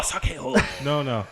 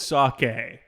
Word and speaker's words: sake: say it like Japanese. you think you're Japanese or something. So Japanese people pronounce it. Oh, sake. No, we gotta cut that. We have to cut that. Have to. It's a must. That's how they say it.